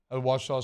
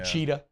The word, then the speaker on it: Ouachita: Ouachita spelled just makes no sense. I love playing that game when people come in town. I'm like, how do you say that? Yeah. Uchita is what people always say.